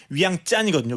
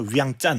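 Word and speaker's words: Vientiane: 그니까 원래 발음은 위양 짠이거든요. 위양짠.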